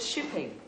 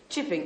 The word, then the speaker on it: Chipping: yes oh chipping sir i thought you said shipping chipping as in chips yes sir it